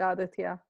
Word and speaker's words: Aditya: me i have aditya am i pronouncing that right aditya perfect yes that's a perfect pronunciation wonderful so